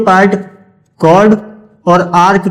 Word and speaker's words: chord: ए बी को बोलेंगे कॉर्ड। ए बी यहां पर कॉर्ड है, CHORD, कॉर्ड, ठीक है। काफी बच्चे चॉर्ड बोलते हैं, चॉर्ड नहीं, कॉर्ड है, कॉर्ड, ठीक, प्रोनाउंसिएशन सही होगी, कॉर्ड।